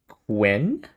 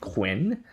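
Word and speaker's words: Qwen: Quen, I think people call it Quinn.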